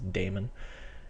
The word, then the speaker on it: daemon: Some people call them demons, but I think the correct pronunciation is daemon.